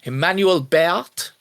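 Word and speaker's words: Emmanuelle Béart: I'm going to butcher the name. Emmanuel Béart is how I would say her name.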